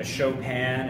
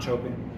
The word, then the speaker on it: Chopin: look at a badier a Gray Goose a chopan and just you know that is the way to pronounce it it's off it's based off of the uh pianist uh showan not choping our well is Tios that's a pretty high-end